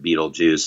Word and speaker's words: Beetlegeist: I don't know if it's a pun exactly, but the idea of that we would take Beetlegeist but pronounce it Beetlejuice, and then we changed